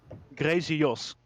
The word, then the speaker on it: Grazy Jos: Yeah, I'll explain how you pronounce my name. So it's Grazy Jos.